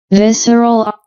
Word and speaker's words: visceral: Arches also known as visceral arches see the pronunciation here visceral so visceral arches are structures seen in the